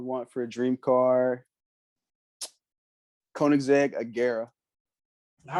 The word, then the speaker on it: Koenigsegg: And then a car that I would want for a dream car, Koenigsegg Agera.